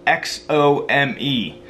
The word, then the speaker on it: Xome: And it's called Xome, and it's spelled X-O-M-E. It's pronounced Xome, I think.